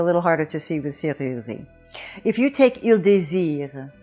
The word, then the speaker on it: serrurerie: Now, one of the main features of French is that the French speaker is always anticipating the vowel, whereas in English we anticipate and emphasize consonants.